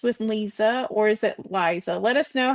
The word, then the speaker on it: Liisa: And hello, Wellness with Liisa or is it Liza? Let us know how you pronounce your name. Do you pronounce it Lisa or Liza? Lisa.